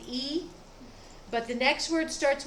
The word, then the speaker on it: y: reason they did it the main word for and is the letter y and we pronounce it e but the next word